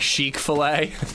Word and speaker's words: Chick-fil-A: It'd be pronounced like chic filet.